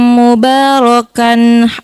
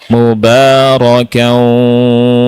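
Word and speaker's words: مباركا: Coba dibaca lagi wabi anzilni munzalam mubarokan wahairul munzilin. Nah, bacanya bukan mubarokan wa tapi bacanya apa? Mubarakan wa anta khairul munzilin.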